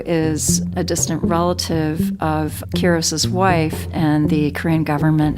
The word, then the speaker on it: Quiros: Am I pronouncing your last name correctly? Quiros. Mr. Quiros, okay.